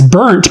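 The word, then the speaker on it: Bernt: to anyone but because it was parodied as burnt because that's b-e-r-n-t that's how it's spelled and so um it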